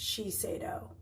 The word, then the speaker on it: Shiseido: was telling you about it's pronounced Shiseido Shi se I do it's really nice their